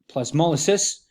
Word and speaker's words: plasmolysis: of what is called incipient incipient plasmolysis properly pronounced plasmolysis and and at that point um what will